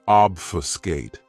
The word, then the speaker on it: obfuscate: Another great verb, which is one of my favorites, is obfuscate. This verb has 3 syllables, and the stress is on that first syllable.